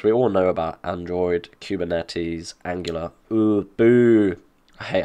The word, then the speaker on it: Kubernetes: We all know about Android, Kubernetes, Angular.